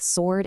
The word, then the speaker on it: sword: The H totally disappears in honest and hour, and the W is silent in both sword and answer.